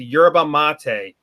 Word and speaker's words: yerba mate: but now we're talking about a plant called yerba mate a that's spelled why er ba yerba mate a ma